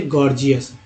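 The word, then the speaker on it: gorgeous: अब जी से ग भी होता है, ज भी, जैसे गॉर्जियस। बोलते हैं ना, गॉर्जियस, गॉर्जियस, पहला जी ग और दूसरा जी ज के रूप में उच्चारण हुआ तो गॉर्जियस पढ़ते हैं।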